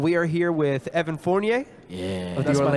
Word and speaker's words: Fournier: And we are here with Evan Fournier.